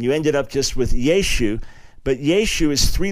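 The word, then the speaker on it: ישו: And that at a certain point, the final ah was kind of lost in Yeshu. And so you lost that final ayin and you ended up just with Yeshu.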